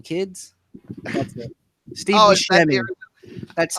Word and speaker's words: Buscemi: Steve Oh, Buscemi. That's not. Steve Yeah, that's Buscemi. Steve Buscemi. People tell me I look like Steve Buscemi.